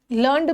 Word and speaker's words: learned: लर्नड भी verb हो सकता है, लर्नड भी वर्ब हो सकता है, दोनों को।